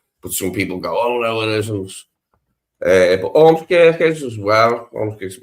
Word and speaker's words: Ormskirk: The was it Ormskirk? Is that how you pronounce it right? Ormskirk. Ormskirk, yeah.